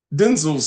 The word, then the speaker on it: Denzel: I I saw that that's really how you pronounce his name that's how you pronounce his name for real Denzel it is not Denzel and it was funny